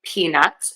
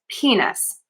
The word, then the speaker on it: peanuts: And instead of saying peanuts, she mistakenly said penis. So if you're asking for peanuts and then you ask for penis instead, that is really super embarrassing and can be really misconstrued. So to say peanuts, what we're going to do is we are going to start with stressing the syllable P.